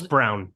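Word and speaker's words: Braun: and we're saying wrong it's it's spelled it's brown it's it's pronounced Brown he spells his name wrong his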